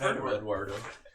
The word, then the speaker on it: Eduardo: Well, it's Eduardo. It was Edward. It's got to be saved. It's got to be said with that little bit of inflection, Eduardo. It's Edward, but Dar.